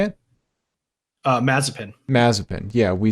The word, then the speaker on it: Mazepin: Mazepin.